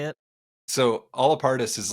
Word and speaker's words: Allapartus: So it's Allapartus, it's Allapartus. It's how you want to pronounce it. So however way you want to pronounce it is the correct way.